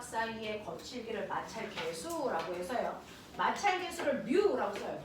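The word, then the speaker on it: μ: 그래서 물체와 바닥 사이 거칠기를 나타내는 걸 마찰계수라고 하고 우리는 뮤라고 읽는다.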